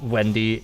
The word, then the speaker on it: Venti: for this time being venti is literally pronounced wendy in chinese that's true that's actually